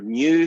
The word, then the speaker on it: mu: knew i should say remember that funny little guy pronounced mu when you get a